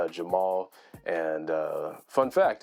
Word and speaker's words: JVMAL: It might look like a V, but it's just A upside down. So it's pronounced Jamal.